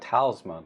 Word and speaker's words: Talsma: But it's more like Talsma, the way it's spelled.